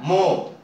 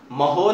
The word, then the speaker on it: mho: इसमें उसका उल्टा हो जाता है, मो, MHO। देखो सिंबल उलट दिया, ओम का उल्टा कर दिया तो क्या हो गया? महो नहीं, बहुत सारे महो महो करते हैं, मो, एच साइलेंट होता है।